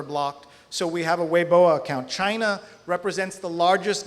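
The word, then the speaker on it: Weibo: channels as well uh including a weoa account weoa spelled webo but pronounced weoa is the biggest Chinese Network because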